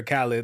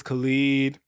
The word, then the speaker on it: Khaled: I think we should start with, is his name pronounced Khalid or Khaled? Like I DJ literally Khaled. was going to ask that. I feel like it's Khalid. I think it's Khalid. I feel like it's Khalid too.